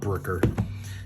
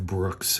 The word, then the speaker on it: Brookes: His name is Gareth Brooks. I just couldn't read his sloppy embroidered signature on the cover. It's not Brooker. It's uh Gareth Brooks.